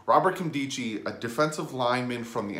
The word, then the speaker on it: Nkemdiche: name I actually got this one down Robert candy Qi that's how you pronounce his name Kim D Qi Robert candy Qi a defensive lineman from the Arizona Cardinals this